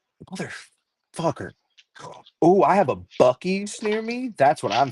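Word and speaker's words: Buc-ee's: Bucksies? Is that what it's called? It's Bucky's, but it's The one spelled with.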